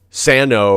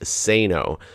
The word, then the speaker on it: Sano: But the original and correct pronunciation of my immediate family's name is Sano.